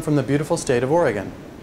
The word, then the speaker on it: Oregon: second although you may have heard it called Oregon locals pronounce it Oregon and last contrary to what